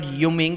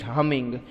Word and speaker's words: humming: on this what humming it is not uming it is humming pronunciation also should be